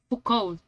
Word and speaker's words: Foucault: Foucault. Foucault. Foucault. No, no se pronuncia la otra letra, es Foucault.